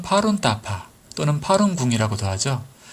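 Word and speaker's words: 法轮大法: 드디어 꿈결처럼 대법을 만났습니다 법륜대법 원 발음으로는 파룬따파 또는 파룬궁이라고도 하죠 그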